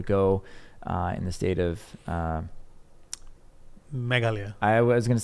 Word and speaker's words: Meghalaya: I was able to go in the state of Meghalaya.